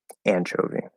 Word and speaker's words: anchovy: okay so David asks which syllable do you stress in anchovy I'll be the first one anchovy I don't know if